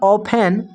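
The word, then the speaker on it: often: poor the reach our ऑफेन यहां पर T silent है इसको पढ़ेंगे ऑफेन scene to बी अनहपी the poor to बी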